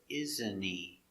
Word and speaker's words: isn't he: T is silent with NT. H is silent because it's not stressed. So you hear, isn't he?